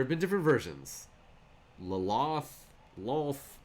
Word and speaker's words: Lolth: There used to be people that would pronounce double L's Laloth. I have heard that. I think they've mostly changed it to just being a single L sound, Lolth.